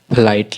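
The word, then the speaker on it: flight: फ्लाइट लिखा हुआ है। लेकिन फ्लाइट में जी एच भी आना बहुत जरूरी है। जी एच साइलेंट होता है।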